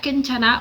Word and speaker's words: 괜찮아: Is Kanchana 괜찮아 or not 괜찮아? (괜찮아 means "okay" or "fine" in Korean, and it's pronounced gwaenchana) I mean, her eye